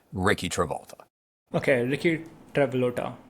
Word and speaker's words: Rikki Travolta: That's just the pronunciation of the name, Rikki Travolta. Okay, Rikki Travolta, right?